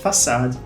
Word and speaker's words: façade: Porém, mais uma vez por razões históricas, esse C, especificamente nessa palavra, ele recebe o som de S. bem diferente, bem estranho até da gente escutar, mas facade tá aí, significa fachada.